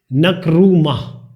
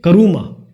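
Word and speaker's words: Nkrumah: इनका नाम है क्वामे नक्रूमा। मैं इसको बोलूंगा क्वामे करूमा, न शायद इसमें शायद साइलेंट है।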